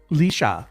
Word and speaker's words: Leisha: Oh, and look, we're Like getting a dog leash and an A. Leisha.